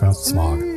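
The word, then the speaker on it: Smaug: that's that's a dumb no one pronounces it like that it's smog like no one pronounces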